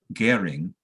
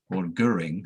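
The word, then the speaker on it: Göring: Rudolf Hess is covered to some degree, but especially Goering, or Goering, however you wish to pronounce it.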